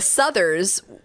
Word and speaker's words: Souther: The Southers, I don't know. I actually had friends in high school with this last name. How did they pronounce it? I think Southers. Okay. It's Souther. One yeah. Souther. The Southers were mega rich.